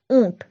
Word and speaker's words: ऊंट: होता है दूसरा है ऊंट उच्चारण फिर से कीजिए ऊंट दिए जो हमारा सही उत्तर है क्योंकि उसका उच्चारण हमलों और नासिका दोनों से कर रहे हैं पतंग